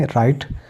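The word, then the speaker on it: write: जाता है यानी कि डब् के बाद आर हो तो डब् साइलेंट हो जाता है तो हम किस साइ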